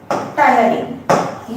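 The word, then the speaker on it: टायलिन: Salivary amylase जो है, specifically salivary amylase का नाम है टायरिन, ठीक है, टायरिन। यहाँ पे ये जो टी है, टी बेसिकली साइलेंट टी, हाँ, स्पेलिंग इसका यही है, टायरिन।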